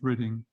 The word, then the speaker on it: Reading: And the interesting thing is that Valentin Tomberg had lived and worked in the town of Reading, which is west of London. It's spelt Reading, but it's pronounced Reading.